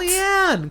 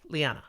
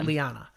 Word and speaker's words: Leane: I mean, it's spelled in pronunciation guide with an EH, so it's an eh. Yeah, so I go with Liana.